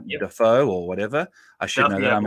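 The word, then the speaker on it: Daffue: Yeah, so Duffy, I believe, is the correct pronunciation.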